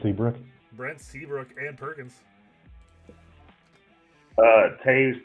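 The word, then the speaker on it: Toews: Taves, but it's spelled toes.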